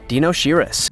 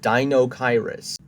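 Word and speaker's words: Deinocheirus: it sometimes number 12 Dino shiris I don't think that's how I pronounce it I think the way you pronounced is Dino kyrus and do you even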